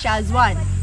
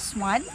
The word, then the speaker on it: Shazwan: His name is Shazwan. Zwan. And my dad mispronounced it as swan, and that's how it became the name.